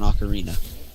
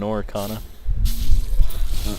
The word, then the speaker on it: ocarina: Do you think you could kill a pig with an ocarina? You mean an oricana? Ocarina. I would pronounce it oricana and slowly piss off every other human being on the planet.